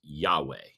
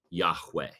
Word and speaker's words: Yahweh: He says, "My name is Yahweh, Yahweh." And and in Hebrew, it's spelled YH WH. There there no vowels in Hebrew. And so we supply those.